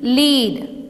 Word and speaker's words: lead: L, EED, lead. B, EED, bead.